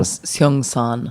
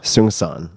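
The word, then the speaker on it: Seung Sahn: whose name I still don't know how to pronounce properly. Seung-san. Seung-san, Korean Zen monk that you have gifted to many, many, many, many people.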